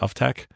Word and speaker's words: Uftak: Is that how you pronounce it? Uftak? Uptake, yeah.